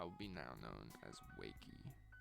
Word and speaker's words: Waqie: All I know is that it's the English pronunciation, like written in English, the name Waqie, W-A-Q-I-E. It's said in English, whatever, but I got it from Arabic language.